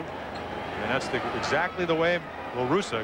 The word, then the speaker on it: La Russa: I want to talk to Canseco, to Ricky Henderson, Tony La Russa, and that's exactly the way La Russa, excuse me, not Russo.